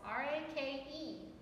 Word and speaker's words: rake: R-A-K-E. So the first one has a long sound and it's marked with a stick. The second one is silent, so I cross it out. So it's rake, rake.